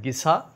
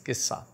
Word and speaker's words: Gissah: cough cough and uh in English it is started with G so maybe a lot of people they might pronounce it Giza but I think I personally think it is Kissa Kissa means basically stories